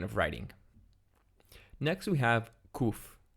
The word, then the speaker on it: Kuf: Next we have Kuf. Kuf is pronounced just like the Kaf with a dagesh in it in modern, and in biblical it's pronounced a little bit deeper, Kuf.